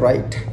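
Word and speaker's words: rite: और अब आपका अगला और आज की वीडियो का लास्ट वर्ड है राइट, RIT, राइट। राइट अलग है, RIGHT, स्पेलिंग प्रोनाउंसिएशन सेम है, स्पेलिंग थोड़ा डिफरेंट है।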